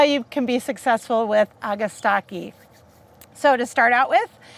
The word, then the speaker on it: Agastache: Everybody says it differently, but I'm gonna say it's called Agastache or Agastache, and I've heard it a dozen different pronunciations.